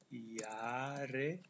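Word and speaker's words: Jahre: noinen saya 19 tahun tahun itu yare ini cara bacanya yare ditulis huruf j besar yare j-nya dibaca ye yare lalu tambah kata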